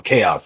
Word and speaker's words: Tchaos: So I was like, "All right, well the T is silent because if you type in chaos itself like I say it, I'm the only thing that's going to pop up."